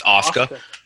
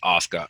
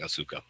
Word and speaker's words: Asuka: It's spelled Asuka, so it's pronouncing it Asuka. It's Asuka. My fault to WB Universe. I look like a fool right now, but it was spelled Asuka, but it's pronounced Asuka. I was pronouncing Asuka.